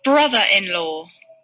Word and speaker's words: brother-in-law: Brother-in-law. Brother, ¿sí? La E es muda. Brother-in-law. Dice como una A, brother, o brother, porque es el acento británico, pero Uncle.